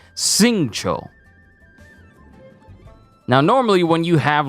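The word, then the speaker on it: Xingqiu: So the way his name is written, you would think it would be like Jing or Kui or Q or something, but the way his name is said and pronounced is Singcho.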